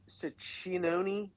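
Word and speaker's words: Cecconi: Ciccinone.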